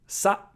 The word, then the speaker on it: さ: Sa. How to pronounce sa. Sa is pronounced like sa in salsa.